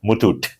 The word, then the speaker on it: Muthoot: Is that the right way to pronounce it? Yeah. Muthoot? Muthoot.